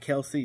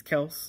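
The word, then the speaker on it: Kelce: jordan lewis said that it's actually not pronounced kelsey it's actually pronounced kels so it's we've been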